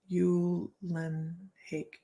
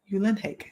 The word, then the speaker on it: Uhlenhake: Uhlenhake rhymes with rake. Uhlenhake.